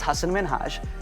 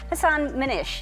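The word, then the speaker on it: Hasan Minhaj: Good, please, because everyone that says your name says Hassan Minhaj. Yeah, but the real way you pronounce it, and this is a big deal because my parents are here, it's Hassan Minhaj. And people always mispronounce it.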